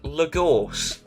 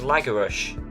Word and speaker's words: Lagorce: said his name, and it's Frank Lagorce, because obviously that's how it's spelt, and I have no idea why I thought it was Lagarush. I don't know, I have no idea why I thought the CE would make a sh sound, but anyway, yes, it's Frank Lagorce.